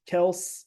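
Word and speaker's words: Kelce: right next to Swift Kel apparently we've been saying Travis yeah Travis last name wrong it's Kel right well so because their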